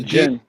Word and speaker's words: jinn: Yeah, the jinn. Yeah. You don't pronounce the D.